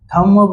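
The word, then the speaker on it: thumb: नहीं ये गलत है क्या बताया था मैंने कि अगर एम के बगल में बी आ जाए भूल क्या बोलता है एम के बाद अगर बी आ जाए तो बी क्या हो जाता है एकदम चुपचाप हो जाता है कोई शब्द नहीं कोई आवाज नहीं तो इसीलिए बी का कोई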